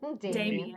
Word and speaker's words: Dimian: Damien. Yeah. It's spelled Dimian, but I'm supposed to say it Damien.